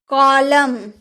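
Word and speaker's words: column: अगर आपके सेंटेंस के लास्ट में एम और एन दोनों रहे एक साथ तो एन का उच्चारण आप नहीं करेंगे। जैसे कॉलम कॉलम वगैरह बनाते हैं ना आप तो आपको पता होगा कॉलम।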